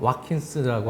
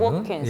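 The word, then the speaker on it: Watkins: 그래서 잉글랜드 쪽 발음은 이제 올리 워킨스인데요. 와킨스라고 올리 하기보다는 워킨스. 예, 워킨스.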